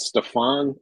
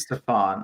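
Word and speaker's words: Stephon: don't know the proper I believe it's Stefan I think he goes yeah yeah yeah okay I think he goes Curry's thrown me off with all of like the different cadences of how to say this name yeah he wants us to annunciate the O I think Stefan Castle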